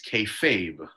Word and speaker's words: kayfabe: It's kayfabe. Kayfabe. It's not Kayfabe. K-Fab. Kayfabe. I thought the E was silent. It's not.